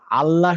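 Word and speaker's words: الله: সেটা হচ্ছে লামটা হেভি মানে হচ্ছে লা এর উচ্চারণ লা না হয়ে অনেক সময় ল হয়। সেটা শুধুমাত্র আল্লাহ শব্দটার ভিতরে হেভি হয়।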